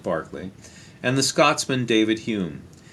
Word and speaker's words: Berkeley: the Irishman George Berkeley, looks like Berkeley, but they pronounce it Berkeley, and the Scotsman David Hume.